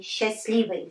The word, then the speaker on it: счастливый: But when we pronounce, we drop.